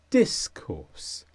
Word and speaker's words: discourse: is a noun and the stresses on the word dis discourse and this is any